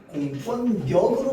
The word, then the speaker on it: 공권력: 공권력 그렇게 발음할까요? 공권력으로 발응합니다.